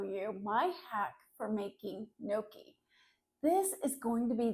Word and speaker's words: gnocchi: and it looks like gnocchi if you look at it on a menu in a restaurant, but it's pronounced gnocchi like you've forgotten your key to get in and you have no key.